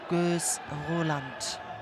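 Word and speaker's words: Gőz Roland: So to pronounce it in the right way, Gös, Roland.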